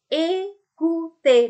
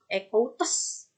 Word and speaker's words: écouter: Écouter, bukan écoutes, bukan écoutes, ya. Nah, akhiran EZ ini sama seperti akhiran ER tadi, diucapkan sama seperti mengucapkan ini, E.